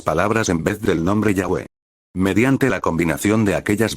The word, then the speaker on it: Yahweh: Al mismo tiempo que nos inclinamos a reconocer la pronunciación Yahweh como la más correcta, hemos mantenido la forma Jehová, debido a la